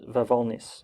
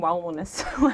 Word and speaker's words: Wawolnice: Yeah, so it's Polish, so it's Wawolnice. How do you spell it? W-A-W-O-L-N-I-C-E. Oh yeah, I was saying Wawolnice.